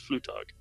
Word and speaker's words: Flugtag: Union Newcastle they're going in Red Bulls whatever Flugtag Flugtag why is it so no tag that's how it's spelled is pronounced flu talk flu talk because I'm assuming it's a German